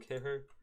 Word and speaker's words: Kehrer: Thilo Kehrer.